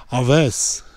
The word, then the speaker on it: Alves: Son nom, c'est une autre affaire, mais je vais essayer de le faire avec la prononciation que Patrick m'a appris. Donc, c'est Patrick Aves.